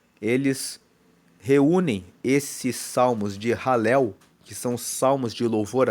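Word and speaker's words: Halel: são os salmos de ralel. Ralel, você viu na capa do vídeo, se escreve H A L E L.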